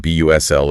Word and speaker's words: bustle: Oh yeah, you hear them together constantly in phrases like the H U S L and B U S L of the city. Right. Your brain sees the letters and might scream H U S T L, but the reality is smooth and flowing.